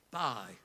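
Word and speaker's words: Bie: comes along another Dane if I pronounce his name right his colonel holy bye I think that's how you spell it be I'll pronounce it b-i-e but anyway this fellow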